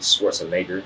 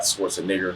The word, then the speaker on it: Schwarzenegger: His last name is actually Schwarzenegger, not Schwarzenegger, or however other fucked up way you pronounce his name.